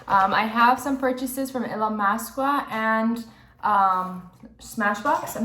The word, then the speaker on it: Illamasqua: So I always see like UK YouTubers pronouncing it, and they pronounce it Illamasqua. So I'm just gonna roll with that as they say there.